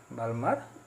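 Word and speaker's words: Balmer: বামাস series, ঠিক আছে, বা বালমাস সিরিজ, যেরকম উচ্চারণ তোমরা করবে, BAL, ঠিক আছে, MAR বা MER বালমার সিরিজ, বা বাংলাতে দেখবে লেখা আছে বামার সিরিজ।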